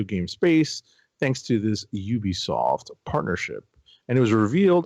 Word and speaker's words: Ubisoft: How do you pronounce it? Is it Ubisoft? Ubisoft, yes.